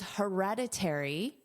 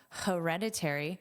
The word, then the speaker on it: hereditary: And then you can use hereditary. Notice that H is pronounced H. Hereditary, hereditary.